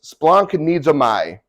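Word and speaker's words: σπλαγχνίζομαι: is used for compassion basically how it how it's said is Splunk needs a my it literally means to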